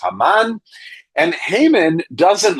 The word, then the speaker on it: Haman: His name is Hmon or in Hebrew it's pronounced Haman.